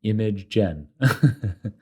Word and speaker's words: Imagen: So it's spelled I-M-A-G-E-N, which is rather sensible given that the model generates images. Get it? Image gen.